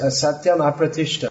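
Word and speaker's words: asatyam apratiṣṭham: It's pronounced asatyam apratishta. If you don't pronounce the it becomes the opposite meaning.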